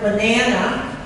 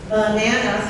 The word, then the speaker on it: banana: So if you're looking at the word banana, banana, 3 syllables, the second syllable is the stressed one, and that sound is ah.